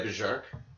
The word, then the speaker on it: Bjarke: Yeah, Bjarke. I think he would pronounce the B. Right? Bjarke pronounces it, so yeah, Bjarke. But it's probably Bark.